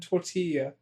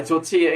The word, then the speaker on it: tortilla: also because in Spanish, the two L's put together is pronounced as E.